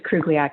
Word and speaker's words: Krugliac: you next up commissioner krugliac i hope i pronounced that correctly yes that was very impressive um yes it's it's krugliac it's russian um so hi everyone